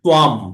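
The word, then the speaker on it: त्वाम्: এই যে আমরা তাং মাং বলছি না, ওই যেগুলো ত্বাম, ম উচ্চারণ হবে, হ্যাঁ, অনুস্বরটা এখানে, এখানে অনুস্বরটা অং না হয়ে ম উচ্চারণ হবে, ত্বাম, হ্যাঁ, ত্বাম ত্বং।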